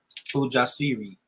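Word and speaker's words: ujasiri: so healing courage um it's pronounced puja siri thank you and so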